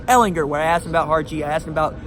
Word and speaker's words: Ehlinger: Joe was not gonna say I'm hard G Ehlinger when I asked about hard she asked about